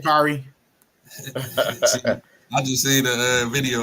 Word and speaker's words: Sha'Carri: Sha'Carri. I just see the video of her talking, my name is Sha'Carri.